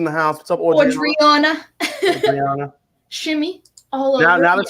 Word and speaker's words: Adriana: Adriana. Shimmy all over. Now that she told me that she pronounced her name Adriana, I love saying it even more.